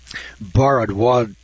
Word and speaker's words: Bharadwaja: now studying a remarkable translation made by Maharishi bharadwaja i'll spell that for you occasion went to check me